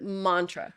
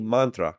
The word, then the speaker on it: mantra: so you pronounced it Mantra right oh Mantra yeah but the a is short so it's MRA Mantra Mantra yeah Mantra yeah